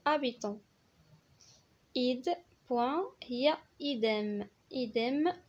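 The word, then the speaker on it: habitant: بطبيعة الحال الاش دائما في الاول ما كتنطقش، ما كنقولوش هابيتون كنقولو ابيتون.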